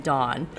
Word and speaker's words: Dawn: from Cape Cod so people say my name Don okay so it always just depends on where you're from don't dawn from the